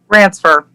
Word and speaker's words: Ransfer: Ransfer.